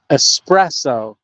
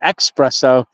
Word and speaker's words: espresso: I'm gonna say it espresso espresso not espresso I had been saying espresso I don't know for how long and it this goes it's espresso look how it's spelled like espresso I've been saying it wrong